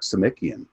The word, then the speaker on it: Samickian: and then uh chuck samickian uh it's like see mickey again it's the way that you pronounce his last name and chuck is uh